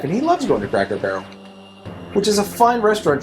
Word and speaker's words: Cracker Barrel: purpose, to the point that now I'm not mispronouncing on purpose. I just don't say it right anymore. Cracker Barrel. Our one friend, when he was a little kid, called it Quacklebell, and his family thought it was so cute